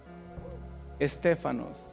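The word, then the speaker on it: στέφανος: ¿Sabe cómo se pronuncia esa corona de laurel en griego? Estefanos.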